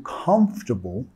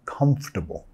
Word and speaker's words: comfortable: I don't feel comfortable talking about it. Nota la palabra comfortable. Estoy comiendo la segunda sílaba. No estoy diciendo comfortable, más comfortable. Comfortable, ¿ok? Así lo pronunciamos, nada más.